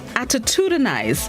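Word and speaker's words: attitudinize: this morning's word of the day is attitudinaize attitudinaise it's spelled a t t i t u d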